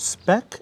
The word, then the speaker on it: speck: There's speck and there's speck, as you pronounced it. Oh, no. In Italian pronunciation would be speck.